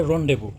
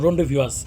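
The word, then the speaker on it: rendezvous: এইযে রনডেভবু হ্যা আমি নেটে একটু সার্চ দিছিলাম উচ্চারণ হচ্ছে রনডেবু তো রনডে বানানটা খেয়াল করেন আর এন ডিইজেড বিও ইউএস আমি ভাবছিলাম রন্ডেভিস কিন্তু রনডেবু উচ্চারণে আমি পেয়েছি গুগ এ তো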